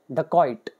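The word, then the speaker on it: dacoit: आपने सुना है जंगल में डाकू होते थे ड कोइट कई लोग इसको ड कोइट भी बोलते हैं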